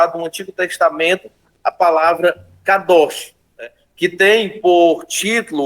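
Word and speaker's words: קדוש: No Antigo Testamento é utilizado a palavra kadosh. Algumas pessoas pronunciam kodesh, mas normalmente se utiliza a pronúncia kadosh para atribuir a palavra santificação.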